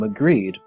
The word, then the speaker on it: Magridd: he summoned death toll alternatively his name could be pronounced King mcreed which could be a reference to his greed which is what was